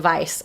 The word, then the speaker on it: Weisz: and learn together um wikipedia says it's pronounced vice so i think you're